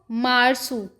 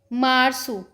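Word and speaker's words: março: जा नेरू फरवर को फेवे रेु फेवे रेु मार्च को मार्सू मार्सू अप्रैल को आब्रयू आब्रयू मई को मयू माय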